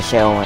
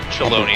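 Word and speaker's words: Shaaloani: We'll be passing a few settlements on the way to Sheolani. I'm not saying that right. Sheolani with everything. Shaloni. It rhymes with baloney.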